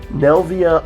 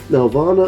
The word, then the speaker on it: Nelvana: I keep pronouncing this name wrong, but I believe it's Nelvana. Nelvana of the Northern Lights.